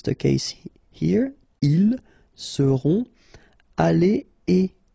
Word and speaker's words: allés: If you've got the plural, like it's the case here, ils seront allés et s, like that. So you'll put this s, you don't pronounce it, but still you need to put it.